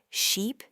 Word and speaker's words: sheep: The long I in sheep is a long held out sound.